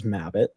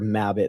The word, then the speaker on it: Mabbitt: had the reasoning behind my last name is mbit everybody always spells it wrong because they hear mbit they spell it like rabbit with one t my name's two B's Two T's so I'm like maybe